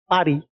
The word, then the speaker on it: Paris: The railways started connecting Paris. Have you heard about Paris? Paris को in movies Paris बोलते. I think in French they don't pronounce this S.